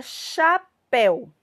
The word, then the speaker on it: chapéu: receber o acento agudo a palavra chapéu e percebam chapéu quem é a minha sílaba mais forte céu porque recebe o acento